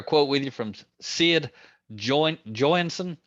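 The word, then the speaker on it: Joynson: with you from Sid Jo Joon I think is the way you say his name Jo y NS o n anyway anybody's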